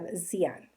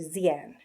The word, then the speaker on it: Xi'an: The starting point you look at the city of Xi'an, or Xi'an. It's Xian, but that's how you pronounce it, with that kind of a Z-ish look.